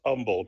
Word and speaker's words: Humble: Yeah, it's pronounced Humble, Texas. So so the H is silent, but yeah, there is an Humble, Texas.